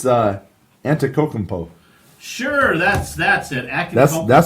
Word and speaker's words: Antetokounmpo: It's Antetokounmpo.